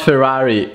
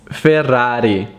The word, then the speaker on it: Ferrari: a beautiful ferrari down the road it's not ferrari it's ferrari quebec ferrari ferrari ferrari another famous italian car that i hear is mispronounced all the time is not lamborghini it's